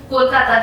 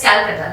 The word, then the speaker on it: Kolkata: previously also Kolkata, but it is the anglicized version of Kolkata because the British couldn't just pronounce the word Kolkata so very well, so they anglicized it as Calcutta.